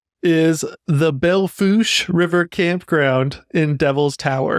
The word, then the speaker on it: Belle Fourche: Okay, Belle Fourche. Belle Fourche, not spelled that way, but that's how you say it.